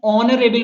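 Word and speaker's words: honourable: और एन ऑनरेबल मैन. आप इस चीज को कंफ्यूज ना हो, देखिए यहाँ पे एच ऑन, यहाँ पे जो एच होता है वो साइलेंट रहता है, तो एन ऑनरेबल मैन बोलते हैं, तो यहाँ पे एन यूज होगा.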